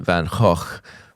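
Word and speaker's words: Van Gogh: go of peasants shoes I have a Dutch friend who's told me I should pronounce it van H but I'm not going to do that because I'll feel pretentious so I'm just going to say van go all right heer's thinking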